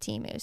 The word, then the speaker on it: Temu: my brain hurt because I thought it was teu for so long but um somebody sent me a Facebook message with a YouTube link from their Super Bowl commercials last year and they pronounced it Teemu so their gasl oh